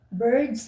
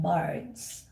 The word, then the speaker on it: birds: I just want to point out that birds and bards, they're not the same. I mean, there is a slight difference in pronunciation. Birds, the birds, not, Birds. yeah, birds, yeah. But Birds. I kept hearing you guys saying bards. Like Birds. is instead of a. You pronounce it as birds, but it's birds.